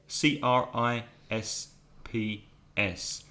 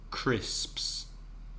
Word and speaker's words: crisps: chips in American English crisps CRI SP s that's a lot of continents that's quite difficult yeah so if you're listening at home just practice one of one or two times just say crisps crisps another possible word